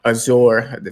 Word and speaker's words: Azure: were talking about the X cloud streaming technology Azure that's how you pronounce it and the streaming services and stuff